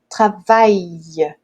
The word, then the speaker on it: travaille: Então aqui fica assim, ó, travaille, ok? Travaille. É como se tivesse dois Is aí, desse uma voltinha, e o interessante é que a língua, ela não toca no céu da boca, a